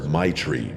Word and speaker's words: Maitreyi: She laughed and told me everyone just calls her Maitri because that's basically how you pronounce it.